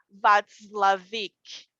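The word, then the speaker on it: Watzlawik: Eu me chamo Václavic. Como? Václavic. Como se escreve o seu sobrenome?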